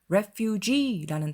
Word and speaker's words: refugee: refugee라는 단어가 있어요. 그건 R-E-F-U-G-E-E 해서 끝에 E가 하나 더 달려 있어요. 그리고 발음이 refugee 해서 뒤에가 더 깁니다. refuge, 강세가 앞쪽에 있죠?